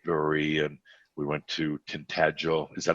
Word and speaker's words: Tintagel: went to 8th brewery and we went to tintagel is that how you say it yes and